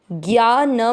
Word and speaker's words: ज्ञान: ते ज्ञा न में मिक्स करेंगे, ज्ञान, इसमें ज्ञा दीर्घ बोला जाएगा।